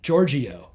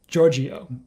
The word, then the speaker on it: Georgiou: That's how you pronounce her name, by the way. Georgiou. Did you know that? I've never been sure, no. I've always been saying Georgiou, but I've heard her say it. Georgiou.